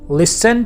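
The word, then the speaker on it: listen: अच्छा, लिसन में जो टी आ रहा है वो साइलेंट होता है, इसलिए मैं वो नहीं प्रोनाउंस कर रहा। You never लिसन टू me carefully.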